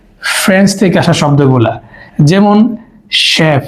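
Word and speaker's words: chef: সাধারণত এটা হচ্ছে ফ্রেঞ্চ থেকে আসা শব্দগুলা যেমন শেফ সি এইচইশফ মে সিন না মেশিন উচ্চারণ হয়েছে স তাহলে এগুলো হচ্ছে গ্রিক থেকে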